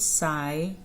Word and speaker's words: psychology: We pronounce it psychology. Psychology. So here the letter P is silent.